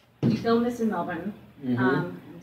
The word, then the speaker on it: Melbourne: you know now did you film this in melbourne um i'm saying it right yes that's right